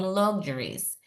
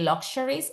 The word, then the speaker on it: luxuries: to indulge ourselves in luxuries. Attention, or be careful here because a lot of people say luxuries. Lux. No, it's not Spanish. So this X is pronounced like Z. Luxuries, not luxuries.